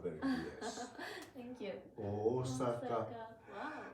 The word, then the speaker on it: Osaka: Osaka. Wow. And the important thing is that O has 2 moras. It's not Osaka. Osaka. If you pronounce it Osaka, that sounds something different.